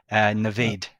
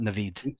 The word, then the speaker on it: Navaid: Navaid, not Naveed.